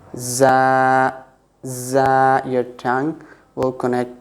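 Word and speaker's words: ز: Za, okay, with Z sound. Za, there will be kind of whistling sound.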